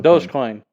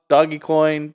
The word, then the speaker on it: Dogecoin: which one a dogecoin does coin and it's spelled dog doggy coin but it's does coin it's those yeah i